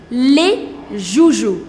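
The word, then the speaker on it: joujoux: Les joujou, and it becomes the toys. Again, the pronunciation doesn't change. Le joujou, les joujou.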